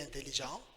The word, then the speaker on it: intelligent: Alors, tu es intelligent. Intelligent, le T est muet, silent T at the end. You are smart. Tu es intelligent.